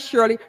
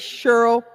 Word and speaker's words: Cheryl: not Shirley. Her name is Cheryl Wilshire.